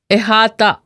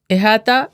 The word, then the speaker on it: احاطہ: احاطہ. احاطہ Arabic origin کا لفظ ہے جو اردو میں کئی طرح استعمال ہوتا ہے. اس کا تلفظ اکثر احاطہ بھی کیا جاتا ہے.